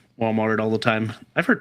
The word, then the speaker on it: Walmart: Walmart. Correct. Lots of people in the south put an S on it. Walmart's Kroger's.